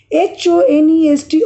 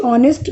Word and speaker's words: honest: H-O-N-E-S-T, honest man, dash honest man. Now, here, though the word starts with a consonant, I have written an. And this is also correct. This is also correct. Why? Because here H is silent.